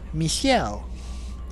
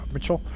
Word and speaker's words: Michel: Michelle. That's how Jennifer Hale says it. Michelle. Is that how they say it in the French language? Michelle, not Michelle or Mitchell.